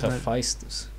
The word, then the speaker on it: Hephaestus: I think it's pronounced Hephaestus.